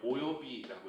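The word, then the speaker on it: 及び: 오요비라고 읽어요. 오요비. 물론 비가 공통이기 때문에 요 한자 오요라고 읽어서 오요비 이렇게 해야겠죠.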